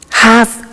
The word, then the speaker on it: have to: computer at work now did you hear my pronunciation I have to notice I don't say V I say F have half it becomes half -